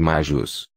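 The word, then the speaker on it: maius: Por exemplo, maios, maio, é pronunciado majus.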